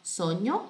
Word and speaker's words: sogno: Lembrando que a pronúncia de G-N-O é N-H. Nho, sogno, due sogni.